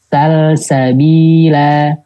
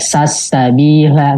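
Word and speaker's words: سلسبيلا: Dibacanya izhar. Nggak ada yang dibacanya idgham ya. Jadi bacanya nggak sasabila, nggak ada. Atau majja gitu ya. Atau imma, enggak.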